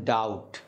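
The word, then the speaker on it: doubt: আছে আমাদের যেমন ধরুন ডাউট ওখানে কিন্তু আমরা বি এর উচ্চারণ করি না আরো আছে ধরেন ক্লাইম্ব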